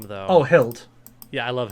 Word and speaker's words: Hild: Oh, Hild. Yeah, I love Hilda. Or just Hild. I try not to pronounce it as Hilda because it ends up sounding like Hilda when I say it.